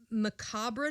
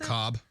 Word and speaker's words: macabre: remembered for his uh macabre tales is that how you pronounce it macabre macabre that's what i i knew that but it doesn't look like macabre no it doesn't he